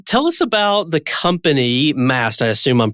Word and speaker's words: Maast: well great well tell us about the company Mast I assume I'm pronouncing that correctly you got it right correct yeah tell us what you do so Mast stands for money as a service plus and